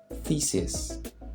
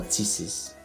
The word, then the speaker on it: thesis: This is a theory put forward as a premise to be proved, and it's pronounced thesis. Thesis, not thesis or thesis. No, it's thesis.